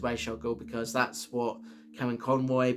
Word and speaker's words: Ra's al Ghul: Now, regardless of whether you pronounce it as Raz or Raish, I've always pronounced it as Ra's al Ghul because that's what Kevin Conroy pronounced it as.